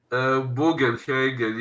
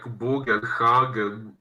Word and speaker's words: Bugenhagen: no, and he also tells him to go find Buchenhagen or is that his name? Bugenhagen, yes, or in this one they pronounced it more like Bugenhagen.